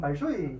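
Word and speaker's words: Большой: 그래서 오른쪽에는 러시아 볼쇼이 발레단. 근데 정확히 발음하면 발쇼이 발레단이거든요. 볼쇼이 발레단이랑 또 마린스키 발레단도 굉장히 유명합니다.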